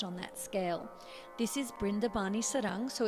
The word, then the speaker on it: Brindavani Sarang: Brindavani Sarang. And actually, it's interesting. So B and V seem to be interchangeable. So you could say Vrindavani Sarang or Brindavani Sarang, and Brindavan or Vrindavan.